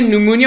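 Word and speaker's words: pneumonia: गई है यहां पर, जिसे न्यूमोनिया होता है ना, पी साइलेंट होता है, तो न्यूमोकोकल कॉन्जुगेट वैक्सीन इसका नाम दिया गया है, ठीक है।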